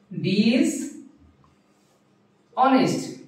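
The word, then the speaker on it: dishonest: ডিনেস্ট আর ডিজনেস্টের কারণে এখানে হবে কি এ ডিস অনেস্ট এইযে এখানে এটা হল কনসনেন্ট যার কারণে এখানে হইছে এ আর এখানে এই উচ্চারণ সাইলেন্ট ছিল যার কারণে এখানে হয়েছে কি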